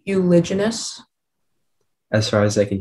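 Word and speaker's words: uliginous: say the word again euloginess um am i pronouncing it correctly euloginous as far as i can hear okay um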